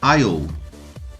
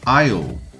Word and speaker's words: aisle: O outro exemplo de silent letter. Mais um exemplo, aisle, aisle.